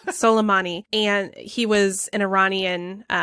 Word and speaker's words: Soleimani: the death of kasym Salemi selami I keep saying the name wrong I'll get a salami that's fun salami no that's that's something they would do on Fox News Soleimani and he was an